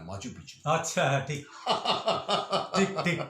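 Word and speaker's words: Machu Picchu: মনে করবেন না যদি বলি, এটা মাচু পিচ্ছু না, মাচু পিচ্ছু। আচ্ছা, হ্যাঁ, ঠিক ঠিক ঠিক ঠিক। ওটা মাচু পিচ্ছু।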